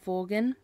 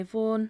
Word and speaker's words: Vaughan: Vaughan.